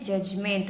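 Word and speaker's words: judgment: देखिए दोस्तों, इसमें डी साइलेंट होता है, इसको हम क्या पढ़ते हैं? जजमेंट मतलब निर्णय।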